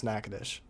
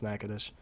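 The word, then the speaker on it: Natchitoches: For the longest time, I did not know how to pronounce Nacadesh until Mason, who's from Louisiana, told me. I think even I think even Reed Timmer also struggled to pronounce Nacadesh.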